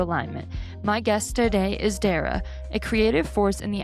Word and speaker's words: Derya: Hi, I'm Darra. Like Sarah but with a D.